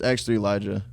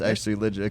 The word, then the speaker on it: X3lijah: So that's how you told them that's how it's pronounced? Your name? It's X3lijah. Okay, but okay. I Okay, told get Siri on the distribution platform that it's X3lijah, because okay.